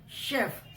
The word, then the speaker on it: chef: CH का जो pronunciation है, दैट इज च ऑल्सो. CH का प्रोनाउंसिएशन में CH का साउंड च वाला भी आता है, but here the sound of CH इज श. शेफ.